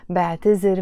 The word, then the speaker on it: بعتذر: The actual verb in standard Arabic is اعتذر, and we pronounce it with a ذ. But in Lebanese Arabic, we take the ذال and we pronounce it as a ز, زين, بعتذر.